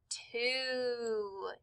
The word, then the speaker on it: two: have put the word to t w o now remember the W is silent so we don't hear it we just hear t